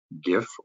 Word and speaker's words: GIF: a look at the animated gif or GIF depending on how you pronounce it that's immediately below the